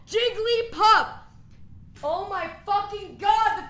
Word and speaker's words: Jigglypuff: Jigglypuff, it's 3 syllables! Jigglypuff!